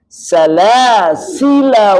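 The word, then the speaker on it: سَلَاسِلَا: ya Di mana salasil ketika tulisannya salasila di situ cara wasal salasila wa lanya tidak dibaca dengan Mad jadi alifnya tidak berpengaruh dengan mad Ya cara wasal ya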